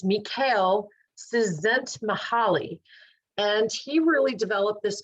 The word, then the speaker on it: Csikszentmihalyi: His name is difficult to pronounce, but I'll give it a whirl. It's Mikhail Csikszentmihalyi.